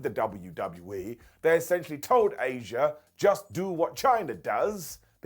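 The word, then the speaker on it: Asya: Number 14, Asia. So look, this is spelled A-S-Y-A, and she was only called Asia because WCW wanted their own version of China.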